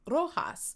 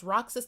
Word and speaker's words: Roxas: It's a character in Kingdom Hearts, but it's spelled like the province Rojas.